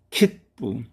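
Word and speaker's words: きっぷ: 그 글자의 영향을 받아서 이때의 이 초금도 푸로 발음이 됩니다. 그래서 P가 두 개 나란히 놓여있게 되었습니다. 발음은 킷부, 킷부, 표, 티켓이라는 의미입니다.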